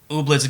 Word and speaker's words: Ooblets: It's pronounced Ooblets Game of the Year 2018. Ooblets.